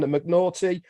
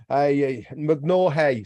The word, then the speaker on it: McNaughey: Holly, the Big Bugs Phillips is in the casa, and McNaughty, McNaughey, sorry. I like the way you've done that, so that I pronounce it properly.